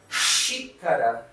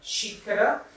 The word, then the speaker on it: xícara: And we have xícara. Xícara, that means cup.